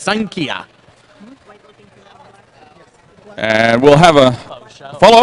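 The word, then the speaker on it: Xankia: west wall street and that is spelled XA n ki a so if you want some pho you're looking for XA n ki a pronounced sign Kia and we'll have a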